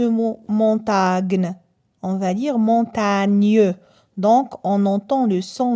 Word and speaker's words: montagne: pas lire ce mot montagne on va dire montagne donc on entend le son mieux lorsque le